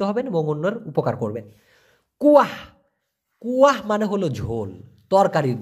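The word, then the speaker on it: kuah: Malaysian ভাষায় বলা হয় কুয়াহ কে ইউ এ হেইস উচ্চারণটা কি হবে কুয়াহ অনেকটা আমরা বলি না কুয়ার ভিতরে ব্যাঙ আছে এই সেই কুয়া না লাস্টে একটা হচ্ছে কুয়াহ কুয়াহ মানে হলো ঝোল আর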